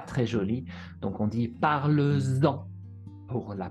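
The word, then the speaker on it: parles-en: Attention, le S revient ici pour la prononciation, puisque parle-en, c'est un peu bizarre à dire. Parle-en, parlant, c'est bizarre, c'est pas facile, pas très joli. Donc on dit parle-en pour la prononciation.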